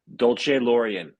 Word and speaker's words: Dolcelorian: Let me get this pronunciation correct. Dolce Laurian. Yeah, that's that's a good that's a good pronunciation.